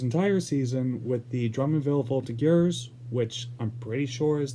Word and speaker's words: Voltigeurs: So, Olivier played his entire season with the Drummondville Voltigeurs, which I'm pretty sure is the pronunciation.